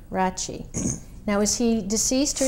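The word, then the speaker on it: Rache: And how do you pronounce that? Rachi. Rachi.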